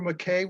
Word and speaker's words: McKay: My name is McKay, but it's pronounced McKay because it's Scottish, but just McKay.